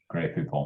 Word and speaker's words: Grey Poupon: I did Google it, and I will say your pronunciation is very much as I would have said it myself. Maybe slightly shorter on the final vowel, but yeah.